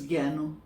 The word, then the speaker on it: Gyanu: call my name so now my nickname is Gano Gano how is spelled g y a n u okay okay